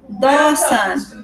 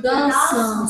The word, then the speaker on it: Dawson: Dawson. Dawson. Say again, Joe. Joe. You don't pronounce the E. Dawson. Dawson. This A and W you say Dawson.